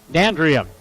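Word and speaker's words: D'Andria: This is Dandria, excuse me. Emphasize the second syllable.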